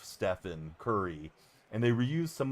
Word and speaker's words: Stephen: They referred to him as Stephon, like Stephon Urkel, instead of Stephen Curry.